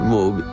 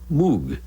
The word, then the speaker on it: Moog: It was the Moog synthesizer, mispronounced by millions as Moog.